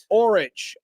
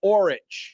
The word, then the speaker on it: Orich: Orich, or as in the boat oar, OAR, Orich.